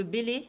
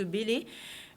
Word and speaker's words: Bellay: que c'était de Céline donc non c'est Jean-Baptiste Bellay alors ça s'écrit be l e y aller voir la